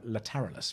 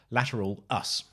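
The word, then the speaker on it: Lateralus: it i was q i always call it later lateralis but i was correct again as saying it's lateral us um by tool so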